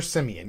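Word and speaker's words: Siemian: seaman see uh simon i don't know how to say his name trevor simeon they gotta we have to write his name different because i i read things phonetically anyways his name is trevor simeon yes i think they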